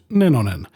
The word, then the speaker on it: Nenonen: That's a Finnish name, by the way, correctly pronounced Nenonen, so this film is already scoring some serious points for me.